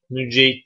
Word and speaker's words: Nüceyd: Nüceyd kelimesi nasıl okunur? Bi zammin nuni ve fethil cimi. Nunun zammesiyle beraber ve cimin fethesiyle beraber okunur.